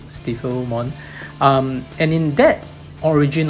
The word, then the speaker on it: Stiffilmon: fomon I guess because it's spelled s-t-i-f-f-i-l so it sounds like it's typhil mon stifle mon um and in that